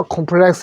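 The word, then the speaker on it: complex: 자, 그래서 콤플렉스 해도 되고 컴플렉스라고 하더라. 근데 외국인은 콤플렉스라 할까요? 컴플렉스라 할까요? 네, 영어로는 컴플렉스가 맞죠.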